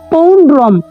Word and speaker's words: পৌণ্ড্রম: এবার আসি পৌণ্ড্রম, অর্থাৎ এখানে শুধুমাত্র অনুস্বরের পরিবর্তে আমাকে ময় হসন্ত লিখতে হবে। পৌণ্ড্রম একটু আমরা দেখব, পয়ৌকার, এটা মূর্ধন্যয় ড, তার নিচে আছে রফলা, এবং শব্দের শেষে অনুস্বর থাকলে আমরা ময় হসন্ত ব্যবহার করব।